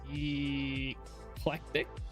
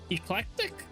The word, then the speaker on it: eclectic: The first E is pronounced as E O. Eclectic. Eclectic. I'm just like I will mispronounce things too sometimes. Oh man. Yes. Perfect. Eclectic. Ah, okay. Eclectic, bro. That C. It was the C that was just throwing me off with that.